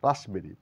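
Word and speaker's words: raspberry: receipt receipt মানে প্রাপ্তি রাসবেরি না বলে বলবো রাসবেরি পি এর কোন এখানে সাউন্ড নেই রাসবেরি বলতে ফল বিশেষ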